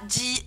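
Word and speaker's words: ジ: peu spéciale, parce que shi plus tenten, ça fait pas zi, mais ça fait bien ji, avec un D prononcé devant. DGI, hein, ji. DJI plutôt même, ji.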